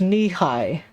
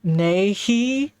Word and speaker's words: Nehi: afternoon it's I'm not it's pronounced Peach knee-high knee-high I feel like you're doing one of those things where you tell someone to say a bunch of jumbled words and if they say it fast it sounds like you're saying something funny I pronounced it Nehi like a [